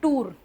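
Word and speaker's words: tour: और फिर है टूर। इसको कुछ जगहों पे टूअर भी बोलते हैं। टूअर है ना? दोनों सही हैं।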